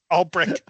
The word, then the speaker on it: Ulbrich: Ulbrich? Ulbrich.